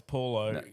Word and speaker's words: Paulo: It's not Bolo, it's Paulo. That's how it's fucking said in Australia, cunt.